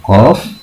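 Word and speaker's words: ق: Nah, ini gambarnya untuk makhorijul huruf qaf. Untuk makhorijul huruf qaf adalah pangkal lidah bertemu dengan langit-langit yang atas. Qaf. Ini agak berat, ya, dibacanya. Agak nyengklik sedikit, ya.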